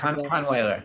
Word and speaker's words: Kahnweiler: And is it Kahnweiler? My pronunciation, I'm like Southern. Yeah, Kahnweiler.